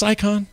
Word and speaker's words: CSICon: Is it just Sycon?